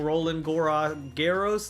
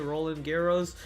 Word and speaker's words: Roland Garros: I was watching Roland Garros, that's how you say it, Roland Garros, French Open.